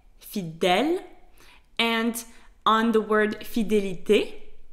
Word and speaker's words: fidèle: fidélité, which means loyalty, you will see that in the word fidèle, the E has an accent grave, so it is pronounced E, fidèle, and on the word fidélité, the E has an accent aigu.